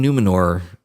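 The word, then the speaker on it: Númenor: Seeing Numenor, is that how you say it?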